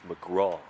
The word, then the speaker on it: McGrath: watching from the USA it's spelled McGrath that's how we pronounce it but here in Australia it's mcra 2-2 and fouled back couple of World Baseball Classics for mcra yep big swing in